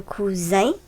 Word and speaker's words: cousin: gauche dans le tableau, la lettre S dans ces mots se prononce Z. Lis avec moi les mots qui sont dans les encadrés. Le poison, le poisson. Un cousin, un coussin.